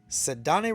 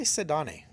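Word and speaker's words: Ceddanne: Jace Young, Ellie, Sedane Raphael, and I'm pretty sure I'm saying his name wrong. I've heard it called Sedan, but I say Sedane.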